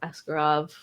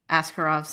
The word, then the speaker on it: Askarov: But there were people who were talking about how the way you say Askarov, there's supposed to be an emphasis on the second syllable, like how Ovechkin.